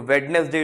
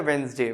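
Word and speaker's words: Wednesday: तो वेडनेसडे जो होता है, वेंसडे वेंसडे वेंसडे, ठीक है।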